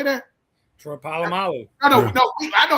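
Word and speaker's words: Polamalu: Palomalo.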